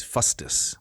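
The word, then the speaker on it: fustis: cudel right a a knobbed stick yes is fusus fusus f u s t i s fusus that's one of the words you can use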